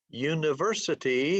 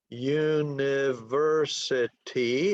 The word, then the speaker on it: university: University has 5 syllables. The stress is on the third syllable. It is a 5-3 word. Okay, so now if we talk about university having 5 syllables, where's the stress?